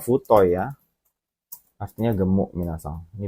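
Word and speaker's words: 太い: Ini bacanya bukan Atsu ya, kalau ini bacanya mah Futoi ya.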